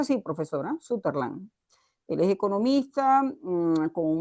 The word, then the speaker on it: Sutherland: Él es, se pronuncia así, profesora, Sutherland.